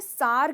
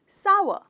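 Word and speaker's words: sour: कुछ लोगों को मैंने सार कहते हुए सुना है, सार, पर ये गलत प्रोनाउंसिएशन है। इसकी सही प्रोनाउंसिएशन है सावर, सावर। तो इस वर्ड के दो हिस्से हैं, सावर। तो इसमें आप स्ट्रेस करते हैं सा को, कहते हो सावर, राइट।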